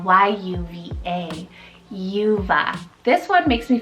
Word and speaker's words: Yuva: For Y, very soft, I have Yuva, spelled Y-U-V-A, Yuva.